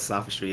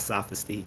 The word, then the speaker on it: sophistry: choma says Liam what's sophistry if you don't mind giv a rundown first of all Tyler he's not saying saying it right sophistry not sophy that's he keeps Mis